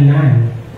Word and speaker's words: Nun: anak ni nan okay ang pronunciation nito sa English ay nan parang Madre sabi nga ng